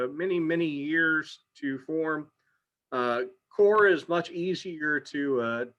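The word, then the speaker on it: coir: the time is called core uh it's spelled c-o-i-r um but we say it core um and it is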